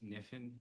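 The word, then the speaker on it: Knifin: Uh, my name is Niffen. Niff is spelled K N I F I N.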